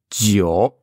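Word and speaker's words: 九: Donc ce J se prononce un peu comme un, pour moi c'est un D, on met un D devant en fait, un DJ. Tio.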